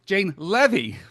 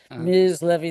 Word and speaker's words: Leavy: Welcome to Baseball BBQ, Jane Levy. Welcome, Jane. Bless you, Jeff Cohen. Isn't it funny? Jeff Cohen mispronounces your name.